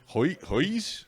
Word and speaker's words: Huis: Huis.